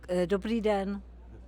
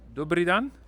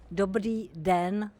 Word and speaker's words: Dobrý den: Dobrý den. Dobrý dan? Dobrý den.